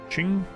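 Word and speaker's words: Qing: or something King Shing I always forget how Q is pronounced in Ching so ching ching ching ching not King not like a zch almost right I remember something like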